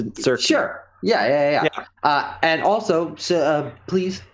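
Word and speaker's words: Tzurki: It's hard to pronounce. I've been thinking about changing it, but it's like it's similar to Tzatziki, but to Zurki.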